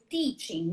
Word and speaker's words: teaching: Por exemplo, teaching, né? Que a gente fala com T de tia, como se fala no Nordeste, e não de ti, como TCH.